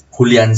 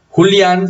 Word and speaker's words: Julián: Pero Julián sí lleva tilde. Porque hay dos sílabas, primero, y segundo, porque eso la convierte en una palabra aguda terminada en N.